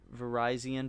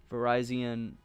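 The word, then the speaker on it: Virizion: In fact, I have a Verizon, because yes, that's how you say it. It is pronounced like Verizon. Verizon, I have that sitting cuties.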